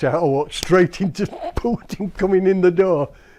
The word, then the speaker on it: Putin: Notice I say his name the Russian way. It's not Putin, it's Putin.